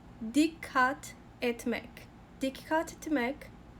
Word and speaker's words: dikkat: Esse verbo é um pouquinho complicado até de pronunciar, porque ele tem uma pausa leve aqui, porque temos duas letras K, tá? E cada letra em turco, em regra, é pronunciada.